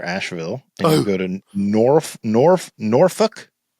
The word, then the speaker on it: Norfolk: You have a day off after Asheville, and you go to Norfolk. Oh. Not Norfolk. Norfolk, Virginia. Oh.